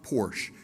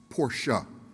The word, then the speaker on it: Porsche: And by the way, gentlemen, when you pronounce this word, that e on the end in German is pronounced as a short a. So it's not porsche, it's porsche.